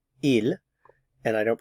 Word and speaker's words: ils: a group of females notice I don't pronounce the S here IL and I don't pronounce